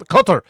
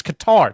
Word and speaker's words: Qatar: All these out there trying to pronounce Qatar like they're from Qatar. Like, "I went to Qatar." You. It's Qatar. Just say it like a normal person.